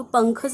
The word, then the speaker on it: पंख: हा शब्दात शेवटी आहे आणि शेवटी अ चा उच्चार होत नाही म्हणून आपण के एच च्या पुढे ए लिहिणार नाही मग पंखच स्पेलिंग काय तयार झालं